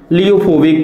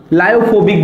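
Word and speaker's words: lyophobic: First is द लियोफिलिक collide and second is द लियोफोबिक collide. लायोफोबिक भी बोलते हैं, sometimes they are pronunciate लायोफोबिक एंड लियोफोबिक, ठीक है, जैसा भी प्रोनाउंसिएट करते हैं, लियोफोबिक कोलाइड्स।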